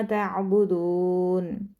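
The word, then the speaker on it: تعبدون: ला अअबुदु मा तअबुदून, माँ को लंबा करेंगे अलिफ मद्दा की वजह से, तअबुदून दाल को लंबा करेंगे वाव मद्दा की वजह से, और नून को साइलेंट कर देंगे।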